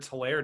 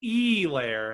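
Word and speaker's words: Helaire: placed a bet on clyde edward solaire to be super bowl mvp you said his name wrong i'm sorry clyde edwards e lair as steve levy would say um it was something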